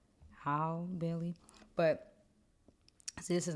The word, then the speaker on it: Halle Bailey: So next we have I always say it wrong. It's a Holly Bailey, right? Halle Bailey.